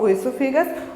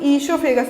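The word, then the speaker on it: oesophagus: ओइसोफेगस को कुछ लोग ईसोफेगस बोलते हैं, क्या, देख लीजिएगा, ओइसोफेगस, इसको कुछ लोग क्या बोलते हैं, ईसोफेगस, ओ को साइलेंट कर देते हैं, ईसोफेगस भी बोलते हैं, ठीक है। तो आपको जो बोलना है ईसोफेगस, ओइसोफेगस बोल सकते हैं आप, ठीक है।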